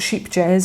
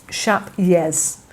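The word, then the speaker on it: Scheepjes: it's not sheep jazz, it's not sheepy jazz, it's not ship jazz, it's Dashper-Hughes. So the J is a Y, and rather than sheep, it's more like shap, like shape. Dashper-Hughes is how you pronounce it, apparently.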